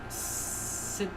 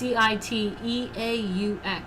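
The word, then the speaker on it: Cîteaux: One group of Benedictine monks founded a new order at Sitio? Sorry, I don't know how to say it. In eastern France in 1098. It's Citeaux.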